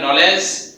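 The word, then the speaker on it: knowledge: শব্দের শুরুতে কে এন একসঙ্গে থাকলে কে উচ্চারণ হবে না, কে সাইলেন্টের ভূমিকা পালন করবে।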